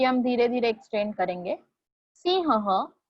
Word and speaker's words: सिंहः: ह के बाद और एक बार मैं ह प्रोनाउंस कर रही हूँ for that 2 dots. Please focus on इट. सिंहः.